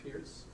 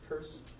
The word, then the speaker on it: Peirce: so Charles Sanders first that is the correct pronunciation of his name is not Pierce so Charles Sanders purse William James John Dewey and George Herbert Mead